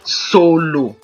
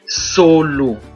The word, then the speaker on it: solo: So we have the same word S-O-L-O, different pronunciation, different meanings, but same spelling.